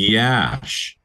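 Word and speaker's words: Iași: and in what is it is she isai Yash yes just like it's spelled y just like with two eyes y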